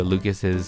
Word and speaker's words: Lucas: I went into Lucas's decal inventory and took one of these carpets. So, his name is spelled Luke Iocas, Luke Iocas, but... it's Lucas.